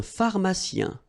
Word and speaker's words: pharmacien: Un pharmacien. So remember, P-H. So these combination of these two letters will produce the F sound.